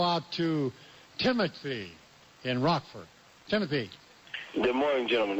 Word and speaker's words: Timothy: Timothy. Good morning, gentlemen. It's spelled like Timothy, but it's pronounced Tamapi.